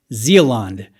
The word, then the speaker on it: Zealande: play that for you so zealand that's how you say it i'm going to do